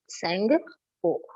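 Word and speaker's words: Tsangpo: Tsunami T से लिखते हैं, but T is silent. We call it as a tsunami. So like that, T, the Sangpo. So we read it as a Sangpo.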